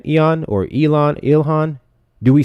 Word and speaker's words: Ilhan: Ilhan.